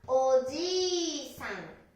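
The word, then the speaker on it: おじいさん: 発音はおじいさん。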